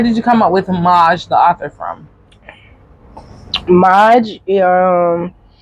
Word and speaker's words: MAJ: I took my initials ma m AJ and called and pronounced it Ma because ma backwards is jam and Ma is the jam and I am